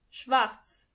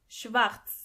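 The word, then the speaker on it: schwarz: pink pink black means Schwartz Schwartz as you can see the letter r is not pronounced as R but more like so together you sayz Schartz Schartz white means vice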